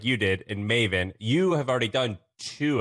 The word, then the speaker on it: Maven: So Maven, how do you say, Maven? It rhymes with like Raven.